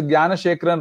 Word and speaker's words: Gnanasekharan: Gnanasekharan.